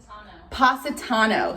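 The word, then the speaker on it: Positano: to haley for letting me know how to pronounce it wait say it again pasitano so my color is pasatano black it looks like that satano were you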